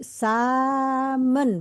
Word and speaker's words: samen: Jadi samen bacanya ya. Sama Samen. sama Ya.